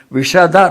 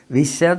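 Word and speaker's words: ವಿಶದ: ಖೇದ ವೃತ್ತಿಸೇಯಂ ವಿಷದ ರುಚಿರ ಬಹಳ ಜನ ಉಚ್ಚಾರಣೆ ಮಾಡುರಿಗೆ ಶಕಾರಕ್ಕೂ ಶಕಾರಕ್ಕೂ ವ್ಯತ್ಯಾಸ ಗೊತ್ತಾಗಲ್ಲ ವಿಷದ ರುಚಿರ ಅಂತ ಹೇಳಿಬಿಡುತ್ತಾರೆ ವಿಷದ ಅಂತಂದ್ರೆ ವಿಷವ ವಿಷಂ ದದಾತಿ ವಿಷವನ್ನು ಕೊಡೋದು ಅಂತಆಗುತ್ತೆ ವಿಷದ ಅಂತ ಬಿಟ್ಟು ಶಕಾರವನ್ನು ಉಚ್ಚಾರಣೆ ಮಾಡಿದ್ರೆ ಸ್ವಚ್ಛವಾಗಿರೋದು ಸ್ಪಷ್ಟವಾಗಿರೋದು ಅಂತ ವಿಷದ ರುಚಿರ ಕಲ್ಪ್ಯತೆ ಅಸ್ಮಾಭಿರೇವ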